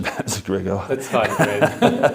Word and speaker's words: Gregor: And you'll correct my pronunciation, that's Gregor.